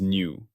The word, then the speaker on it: nu: Its symbol is the Greek letter nu, pronounced new, like new. I have mistakenly pronounced this as V. That was an error. It is nu.